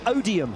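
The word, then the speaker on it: Odiham: Uh Odium. And what does that rhyme with? Podium.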